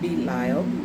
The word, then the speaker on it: Belial: And let's see the proper pronunciation here. Belial, okay.